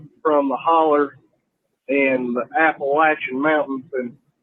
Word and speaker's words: Appalachian: Yeah, this is Country Panther calling from the holler and the Appalachian Mountains, and that's Appalachian, not Appalachian like some of y'all pronounce it. That just pisses me off whenever people say Appalachian.